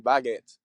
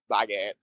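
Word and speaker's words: baguette: English speakers learning French is they saying baget it's not saying baget to just be like baget right so don't take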